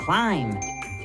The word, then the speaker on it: climb: The B in both of these words is silent. We do not pronounce it. Thumb, climb.